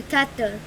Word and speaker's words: Qatar: So these guys will quickly start planning to do a counter-offensive into Qatar. That's how you pronounce it.